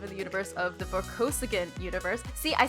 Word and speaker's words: Vorkosigan: I want to live in the universe of today's book, where Alex wanted to live in the universe of the Vorkosigan universe.